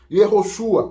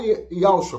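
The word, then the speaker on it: יהושע: Yehoshua, ou Yoshua. Ou Yahshua, como é a pronúncia moderna hoje. Quando você vai para Israel, você não vê ninguém falando Yehoshua. Não, você vê o pessoal falando Yahshua.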